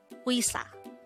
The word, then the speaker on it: 의사: angle of the word uisa by the way take note that the wii sound is actually formed with a combination of the e and e sound now let's have some